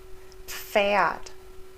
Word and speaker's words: Pferd: We also pronounce the P and the F. Pf, Pfennig, Pferd, Pflaume, Pfund.